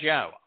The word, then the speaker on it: Yahweh: provided to us in Torah and it is Yahweh there is no question that is how it's pronounced and there is no question that God